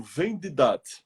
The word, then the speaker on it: Vendidad: V, E de elefante, N de navio, D de dado, I de isso, D de dado, A de amor, D de dado. Vendidat. Vendidat.